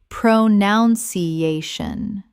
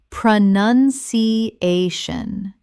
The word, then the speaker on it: pronunciation: Common mispronunciation, pronounciation. Correct pronunciation, pronunciation. Five syllables. Notice it is pronoun, not pronoun. The word pronunciation does not contain the word pronounce.